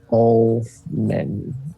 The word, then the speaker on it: Ullman: How exactly do you pronounce her name? I know I didn't listen. Ullman? Mm-hmm. Ullman.